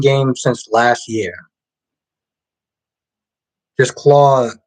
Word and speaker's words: Claude: Just Claude. Oh, Claude. The E is silent.